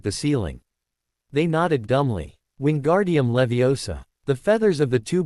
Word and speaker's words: Wingardium Leviosa: You're saying it wrong, Harry said to them after a while. It's<unk> wing Gard Levi Oaw. Make the gar nice and long.